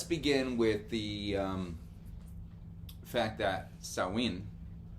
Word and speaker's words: Samhain: and Samhain and all those other random things.